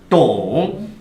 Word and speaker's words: 懂: 발음 시작. 동.